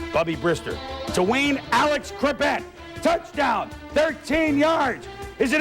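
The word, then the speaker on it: Chrebet: Wayne Crevette with a silent H.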